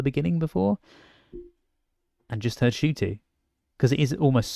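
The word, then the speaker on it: Ncuti: this whole video like you pronounced my name shooty shoot like a shoot yeah this is what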